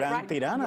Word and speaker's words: La Gran Tirana: If you want to see La Gran Tirana, did I say it right? La Gran Tirana, yeah, right.